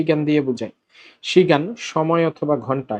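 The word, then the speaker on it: 시간: চলো, শুরুর শব্দটা হচ্ছে শি গান। এখানে কিন্তু ওই শিয়তের পরে ই আছে, সুতরাং উচ্চারণটা তালব্যস্বয়ের মতো হবে শি গান।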